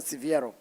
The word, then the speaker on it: Siviero: Mickey Biasson and Tiziano Siviero.